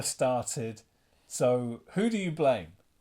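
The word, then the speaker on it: Blame!: Blame or blam. People call it blam. I I say blame because it's got an e on the end and that word is blame, but apparently it's pronounced blam.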